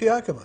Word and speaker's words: Yakima: How do you pronounce it? I think it? It's Yakima.